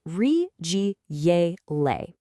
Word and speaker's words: 日积月累: It's pronounced rig gay le and it holds this timeless secret that real mastery isn't a sprint.